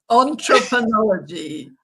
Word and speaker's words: Entrepreneurology: Entrepreneurology. I said it right. Entrepreneurology. I'm right. Right. It's an ology of entrepreneurship.